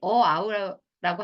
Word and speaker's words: hour: 애들이 hour라고 하는데 아니면 어, university.